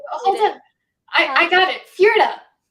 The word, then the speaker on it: Fjerda: Fjerda. Fjerda. Yeah, that's how you pronounce it. Fjerda. I always want to pronounce the J.